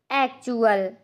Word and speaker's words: actual: एक्चुअल, तो यहाँ पर स्पेलिंग क्या लिखी हुई है?